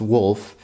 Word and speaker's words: Wuelf: came across a company I believe it's pronounced wolf it's spelled w w-u-e-l-f